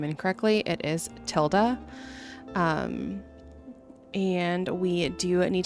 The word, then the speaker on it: Tilda: Um, in the last video I was pronouncing her name incorrectly. It is Tilda.